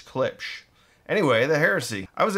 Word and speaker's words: Klipsch: for the longest time people get really mad at me and how i said clips it says klipsch yeah anyway sometimes i'd actually say it correctly at the beginning of the video but then towards the end it starts saying clips so it's clipch anyway the heresy i